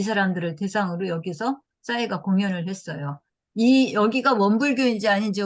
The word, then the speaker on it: 싸이: 사이. 네, 싸이. 좀 세게 발음해서 싸이죠.